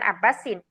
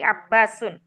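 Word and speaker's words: عباس: Bukan abbasin tapi abbasun.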